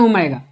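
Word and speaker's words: omega: इसकी स्पेलिंग साई क्या लिखोगे आप? साई। नेक्स्ट देखिए आपको ये मिलेगा, इसको बोलते हैं ओमेगा।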